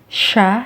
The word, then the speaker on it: siya: a while although spelled as sia it is pronounced as sha and mia is pronounced as so that's how